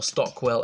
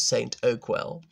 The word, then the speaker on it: Stockwell: David skewered them by saying they pronounced Clapham as Clam, to pretend it was is posher, or Stockwell as St. Oakwell.